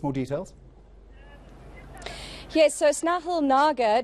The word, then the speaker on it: Nagar: Yes, so Snehal Nagar, to rhyme with lager, if that helps us